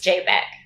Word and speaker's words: JPG: which by the way is you is it pronounced jpg or jpeg it's jpeg so before we dive into jpeg i probably